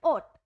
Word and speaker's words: ought: इसकी प्रोनाउंसिएशन क्या है? OT, ओट।